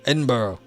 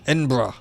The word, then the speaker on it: Edinburgh: Like, it won't go away, but it's like, Edinburgh, however, but Edinburgh. Okay, yeah. Yes, I know I mispronounced that one. But I'm doing Edinburgh, yeah. No, I was doing the stupid US pronunciation.